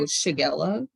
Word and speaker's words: Shigella: The first word here, how do you pronounce that? Shigella, outbreak, Oh, Shigella.